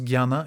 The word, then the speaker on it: jnana: dernière forme de yoga c'estana ou jnana mais souvent on prononce guyana yoga il faut pas confondre